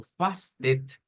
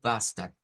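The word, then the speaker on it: fasten: Entonces, no lo vamos a leer como fasted, como nosotros pensaríamos que es una E, ¿ya? Sino como bastard, bastard, bastard.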